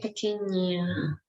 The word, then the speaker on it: pequeña: So yes, it's like when you pronounce like G and N together, that's the sound. It's difficult because in English you normally don't use this sound. So, but it's pequeña, ni.